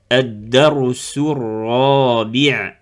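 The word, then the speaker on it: الدرس الرابع: On regarde la troisième lettre, si elle porte une shadda, comme le cas ici, donc on ne le prononce pas, adda arra. Donc on ne prononce pas le lam.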